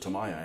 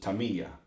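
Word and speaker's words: Tamiya: uh Taya and it's wrong but we always pronounce it Tamaya and I'm now gotten out of the habit of calling it that you know my dad my dad always pronounced it Tamia but then he's from another country and and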